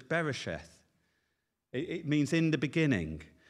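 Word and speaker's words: בראשית: And I'm not very good at Hebrew pronunciation, but it's beresheth.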